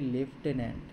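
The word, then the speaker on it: lieutenant: স্পেলিংটা কী আছে না, LIE, লাই, তারপরে হচ্ছে ইউ, তারপরে টেনান্ট, লাই ইউ টেনান্ট, এর উচ্চারণ হচ্ছে লেফটেন্যান্ট, যার বাংলা মানে হচ্ছে প্রতিনিধি।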